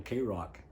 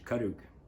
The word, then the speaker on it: Karuk: i became a coastal k rock now our pronunciation is karuk but one of the guys up there gave us the title k rocks and we became